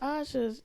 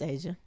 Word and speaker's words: Asia: I know, like the Asha's, it's just her. Her name, Shawty. Did I say Asha? You did. It's spelled that way, but it's Asia.